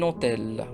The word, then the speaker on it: hôtel: Prenons un petit exemple, un homme, un hôtel. Rappelons toujours que le H muet, c'est un H qui ne se prononce pas et qui n'a pas une grande influence sur la prononciation du mot.